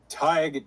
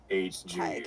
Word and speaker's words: Tadhg: It's Tig, Tadhg. Tig, It's an okay. iconic name. Okay. Gaelic. Tig. Yep, Gaelic. Yeah. Exactly. Yeah. I'm basically pronouncing it like Tig in Dragon Age.